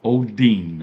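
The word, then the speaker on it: ὠδίν: Let's let you hear how this word is pronounced in the Greek. Strongs G5604 Odin Odin. So it's pronounced Odin.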